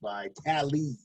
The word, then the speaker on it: Vitale: defensive back Adrian Phillips, and fullback Dan Vitale, pronounced Vitale.